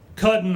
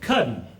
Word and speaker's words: cousin: Hoff irons called him cuddin Harvey cutting is spelled cousin but pronounced cutting Miss Hawthorne's mother was